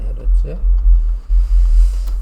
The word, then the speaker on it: 헤르츠: 근데 그거를 헤르츠라고도 하는 거야. 헤르츠 1초에 몇 번. 그게 헤르츠 단위라고 합니다.이 헤르츠라고 읽으시면 돼. 헤르츠.